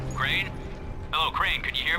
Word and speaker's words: Crane: the video store no my name's crane crane crane rhymes with train and brain and San and Grain and rain and Plaine and the other kind of plane and and but can